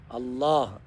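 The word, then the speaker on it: الله: അല്ലാഹുവാണ് യഥാർത്ഥ അൽ ഇലാഹ് അള്ളാഹ് അപ്പോ അല്ലാഹ് എന്നത് അള്ളാഹ് എന്ന അങ്ങനെ തഫ്കീമാക്കി ഘനപ്പിച്ച് ഉച്ചരിക്കുന്നതാണ് അല്ലാഹ് എന്നത് അള്ളാഹ് എന്ന്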